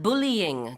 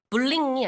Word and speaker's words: bullying: combat bullying 그러면은 이제 그런 학교 폭력을 막고 일어나지 않게 한다는 거고요. 참고로 이 bullying의 발음은 bullying이 아니고요. bullying. Yep. Three syllables가 Yeah.